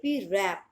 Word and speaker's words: wrap: देखो, WRAP, रैप। इसमें होगा W साइलेंट और आप इसको बोलोगे रैप।